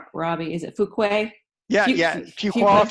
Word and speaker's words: Fuqua: gambling with Robbie fook I always say your name wrong Robbie is it Fuquay yeah yeah you walk a few Quay believe